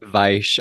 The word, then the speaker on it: Weisz: Yeah, and he like did research on how to pronounce it, so I've never forgotten that. Weisz.